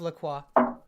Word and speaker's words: La Croix: I have La Croix. That's my healthy. La Croix. La Croix. You pronounce the R.